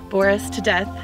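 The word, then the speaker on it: Boris Tudeth: death that is how you say my name Boris to death because Facebook didn't believe me that the proper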